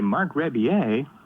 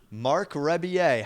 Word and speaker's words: Marc Rebillet: Hey, Marc Rebillet. Marc Rebillet. How do you know how to pronounce my name?